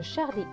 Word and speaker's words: Charlie: Charlie. Le E à la fin est écrit en gris, donc il ne se prononce pas.